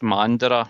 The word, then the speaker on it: Mandurah: It's at Mandara, which is spelled MANDURAH CSC.